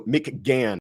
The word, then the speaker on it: McGann: Also, McGann, I guess is the proper pronunciation.